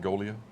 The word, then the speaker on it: Goglia: Well, and the thing is, we have, and I was talking with, John Golia? The name rings a bell. It's spelled Goglia, but it's Golia.